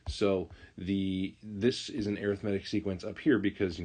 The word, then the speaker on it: arithmetic: of vocabulary terms here arithmetic sequence not arithmetic arithmetic is a SE